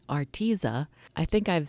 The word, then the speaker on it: Arteza: I've learned how to pronounce it correctly, Arteza. I think I've said Arteza for forever, but it's Arteza.